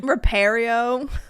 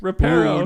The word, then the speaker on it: Reparo: Repario. Yeah. One So that the came to eggs mind. that Crumb broke. Reparo.